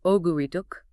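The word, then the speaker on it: 오구륙: The pronunciation of 596 is oguriduk. If you say it fast, it sounds very similar to the word iogul, which translates to injustice or resentment.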